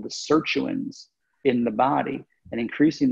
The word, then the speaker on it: sirtuin: Is that what how's it pronounced? Sirtuin? Yes, sirtuin.